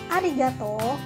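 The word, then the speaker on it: ありがとう: Dalam mengucapkan kata arigato, kamu ucapkan vokal O dari kata to satu ketuk lebih panjang. Nah, mari kita ucapkan bersama-sama. Arigato gozaimasu. Sekali lagi, arigato gozaimasu.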